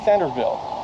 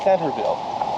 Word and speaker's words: Centralville: in a place called Centerville it's spelled centralville but it's actually locally pronounced Centerville and you're just a